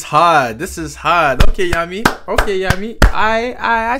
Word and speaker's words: Jami: yeah yeah oh you guys don't say jamm it's hot yumas yummy that's how he say his name yummy ahum